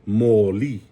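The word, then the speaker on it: mōlī: Now, if you put a macron over the O and the E, it sounds like moli, right? So now you're emphasizing both syllables, and now it doesn't mean orange anymore.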